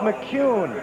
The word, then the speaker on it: McKeon: Now, it looks like McKeon, M-C-K-E-O-N, but it's pronounced McCune, as if it were M-C-C-U-N-E.